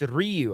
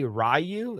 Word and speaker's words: Ryu: it's it's it no it's not it's it's Ryu all right and the only reason why you can say rayu is because they don't know how to pronounce